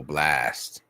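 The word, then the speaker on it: Blxst: Oh, Blast, okay. Blast, but it's spelled. I don't know why. Just say I don't know why you have to make it with the X in it, bro.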